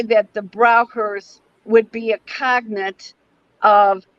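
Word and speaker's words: Braucher: two is that i would say that the browkers would be a cognate of a shamanic tradition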